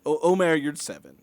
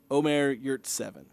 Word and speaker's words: Omer Yurtseven: Well, it's pronounced about as much as you'd see it spelled. It's Omer Yurtseven. Omer Yurtseven. That's pretty much how it's spelled sounds. If you add a Turkish accent to that, it'll sound a little bit better.